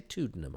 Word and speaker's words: Tuddenham: done it twice um I did mention Peter tanham and mispronounce his name why didn't I say tuddenham I don't know why